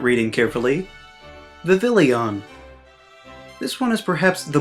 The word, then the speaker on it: Vivillon: Speaking of not reading carefully, Vivillon. This one is perhaps the most excusable out of them all, because there's a lot of letters in this alphabet soup, and you have to pronounce it kinda French.